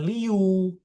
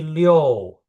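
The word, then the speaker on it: 六: Perhatiin ya dia pakai I sama U. Tengah-tengahnya ada O. Jadi bacanya bukan Liu tapi Low ya.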